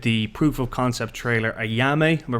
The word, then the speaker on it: Ayamé: On today's Insider podcast, we are talking to Conor Maloney, who directed the proof of concept trailer Ayamé. Am I pronouncing that right? Perfect. Ayamé.